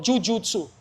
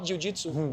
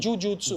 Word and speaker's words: jujutsu: He found that art, we call jujutsu, not jujitsu, jujutsu. Jujutsu. It's a Japanese pronunciation for the same.